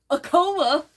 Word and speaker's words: Acoma: Acoma, she said.